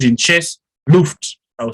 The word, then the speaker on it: Luft: key open window which is called in chess loofed i'll spell it so you can remember it luft so